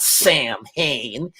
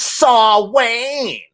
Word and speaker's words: Samhain: even know what they're talking about it's not samhain it's saw wayne saw wayne is an old word and that's how it's pronounced i mean read samhain but it's actually